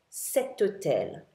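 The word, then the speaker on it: cet: like um instead of saying you sayum that setum is spelled c e t now remember that's the masculine singular form another example with an H would be hotel which means Hotel this hotel or that hotel setel c e t how about a masculine singular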